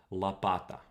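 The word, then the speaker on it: лопата: that the church standard if you write an o you pronounce it like an o in modern russian that's not the case if it's not stressed you reduce it so la pata right so the o turns into an a so but in this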